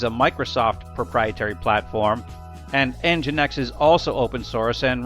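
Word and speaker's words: NGINX: Services or IIS or NGX, which is actually pronounced EngineX. Now, Apache is very commonly used. It's an open-source platform that typically runs on Unix or Linux systems. IIS is a Microsoft proprietary platform and EngineX is also open- source and runs on just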